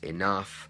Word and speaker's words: enough: Okay, so I have the sound uff, so this includes enough, tough, and rough.